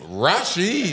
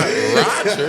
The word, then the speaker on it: Rasheed: I'm Rasheed, not Roger. Like, Maybe from another country, he's not pronouncing it right.